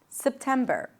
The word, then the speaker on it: September: There is no vowel in between. It's not September, but September. September.